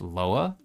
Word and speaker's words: lwa: Lwa. Lowa. That's interesting. It's spelled L WA, but it's pronounced Loa.